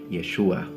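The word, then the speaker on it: ישוע: ancient romans or as his name was probably pronounced in his language yeshua some people tried to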